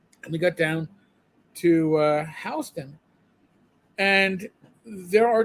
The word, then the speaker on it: Houston: And I know if you're a Texan, it's Houston, but New Yorkers can't pronounce it, so we say Houston.